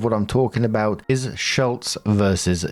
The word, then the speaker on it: Schultz: Now, the spelling is different here, so it's s h u l t z versus s c h u l t z. It is the difference of a single silent letter.